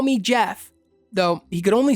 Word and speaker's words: Gef: name, call me Jeff," though he could only spell phonetically, so his name became Jeff with a soft G.